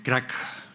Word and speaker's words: crack: Acá no se dice crack, sino que se dice cra.